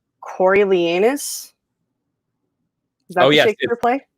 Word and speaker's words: Coriolanus: Coriolanus. Is that the Shakespeare play? Coriolanus.